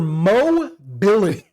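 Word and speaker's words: Moh: So the H is silent.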